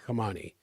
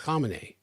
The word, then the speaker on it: Khamenei: Now, I heard it pronounced correctly here the other day, and I'm still mispronouncing Khamenei, not Khamenei. It's not Ayatollah Ali Khamenei. It's Khamenei. Anyway, who cares?